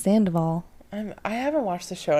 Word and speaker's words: Sandoval: I mean, he has a successful business now with Tom Saldivar. Did I say his name right? No. What the fuck did I say? Saldivar. It's Sandoval.